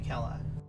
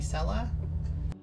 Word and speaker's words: Kela: And it is spelled on my main with a C, but I got tired of people calling me Sela. So all my other characters, it starts with a K. Because people can't be buggered to learn that, you know, C's are pronounced differently sometimes. It's based on a Gaelic pronunciation, so it's kind of like the Boston Celtics.